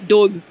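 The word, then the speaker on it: Dogue: I said Nissan dog dog is how they pronounce it do GU yeah it's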